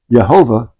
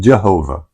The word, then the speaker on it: Jehovah: J is pronounced different a J is pronounced like a Y in German.